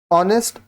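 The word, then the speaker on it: honest: है ऑनेस्ट ठीक है ऑनेस्ट का जो प्रोनंसिएशन है उच्चारण वो वावल साउंड से है ऑ ऑ इसलिए यहां पे एन होगा तो रूल क्या है ऑनेस्ट starts with अ साइलें ए एंड अ वाल साउंड सो एन ज यूज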